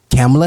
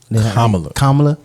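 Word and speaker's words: Kamala: statistics 2023 under under President Joe Biden and camela Harris Ain there name came kamla kamla Harris stop it I I just Harris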